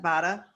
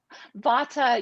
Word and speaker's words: vata: out i'm vada 50 vada did i pronounce it right vata yeah i mean i'm